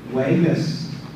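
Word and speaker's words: wikvs: If you spell W-I-K-V-S, that says Vegas. Notice it makes a G, hard G sound instead of the K sound.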